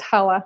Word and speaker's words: challah: how pretty they are it's pronounced Hawa sorry my apologies I'll